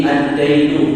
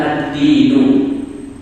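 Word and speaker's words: الدَّين: Di sini ad-dainu bukan ad-dinu, maknanya sangat berbeda sekali. Kalau ad-dainu pakai fathah artinya apa? Hutang, ad-dain, hutang. Kalau ad-dinu artinya apa? Agama, agama. Di sini kan membacanya adalah ad-dain.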